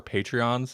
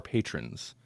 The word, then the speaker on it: patrons: our ten dollar patrons i always say it wrong i always call them our patreons and that's not they're our patrons over on patreon.compodcast savannah is